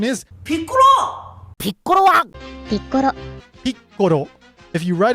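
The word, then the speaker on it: ピッコロ: So, what you do is you pronounce the first part of the word. You stop and then you pronounce the second part of the word.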